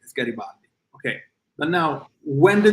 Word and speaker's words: Garibaldi: Garibaldi is Garibaldi. They always change it to Garibaldi, but it's Garibaldi.